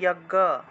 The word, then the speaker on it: যজ্ঞ: যজ্ঞ যজ্ঞ আছে, উচ্চারণ হবে যজ্ঞ।